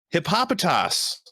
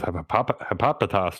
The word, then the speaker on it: Hippopotas: Next up, we've got Hippopotas. Wow, that might be the first time I've ever heard this name ever pronounced in my life, and I like the way you said it.